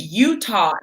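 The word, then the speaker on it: Eutaw: dad is from um it's called i think utah alabama but it's spelled e-u-t i pass through utah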